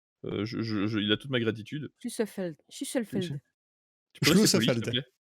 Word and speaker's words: Schlüsselfeld: En Allemagne, une brasserie située dans la ville de Schlüsselfled. Schlüsselfled. Attends, tu sais quoi, je vais le noter dans le chat du truc, le premier qui me le prononce correctement, il a toute ma gratitude. Schlüsselfeld.